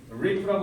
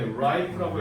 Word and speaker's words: ripe: rip라고 하면 안 돼. ripe라고 해야 돼.